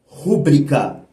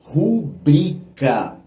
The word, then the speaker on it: rubrica: Et, entre parenthèses, il n'y a pas de prononciation, écoutez bien, du mot « rúbrica ». Ce mot n'existe pas. Le mot correct, dans tous les sens du terme, est « rubrica ».